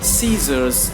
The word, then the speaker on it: scissors: In that case, we are not going to pronounce C. So they can see some sort of example here. Scissors, accent, no, see the word accent, fascinate, muscle.